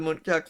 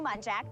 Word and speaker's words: muntjac: That's how they communicate with each But can we, because Wikipedia did mention that several other species of muntjacs are also occasionally called barking deer, so we should see if they say the species name in this.